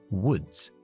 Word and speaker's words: woods: ¿Cómo sé yo que la doble O se pronuncia con la U corta? Woods. Pues porque termina en D. Si termina en D o termina en K, la pronunció con la U corta, menos la palabra food, comida, que es con la